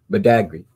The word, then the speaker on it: Badagry: And you pronounce Bada, is it Badagry? Badagry.